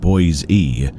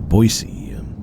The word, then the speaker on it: Boise: What threw me off was his mispronunciation of his supposed hometown's name. Though he called it Boy's E and not Boisey, that didn't sit well with me.